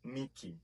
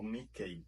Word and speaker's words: Mickey: Dizemos Mickey e não Mickey, como falam os brasileiros.